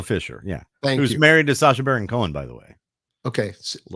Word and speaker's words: Sacha Baron Cohen: Isla It's pronounced Isla. Isla Fisher, yeah. Who's married to Sacha Baron Cohen, by the way.